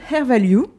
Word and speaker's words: Hair Value: Vous êtes la condatrice de Hair Value parce que c'est comme ça qu'on prononce.